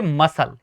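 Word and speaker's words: muscle: Next देखिए एम यू एस सी एल ई। यहां पर भी एस सी का भैया कॉम्बिनेशन है। जुड़ा है। पेयर है। ठीक है? तो एस यहां पर क्या साइलेंट रहेगा? सी। तो आप कहेंगे मसल।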